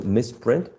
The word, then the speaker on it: misprint: as a noun so misprint should be U stressed on the first syllable right um the first